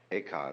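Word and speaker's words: 慧可: Eka is Japanese pronunciation, like Zen is the Japanese pronunciation of the Chinese Chun.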